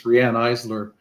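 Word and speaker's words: Riane Eisler: bit and also yeah it's rhianne Isler is how she pronounces her name and she's really quite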